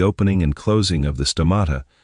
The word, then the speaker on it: stomata: It controls the opening and closing of the stomata, pronounced sto-mata, the plant's lungs.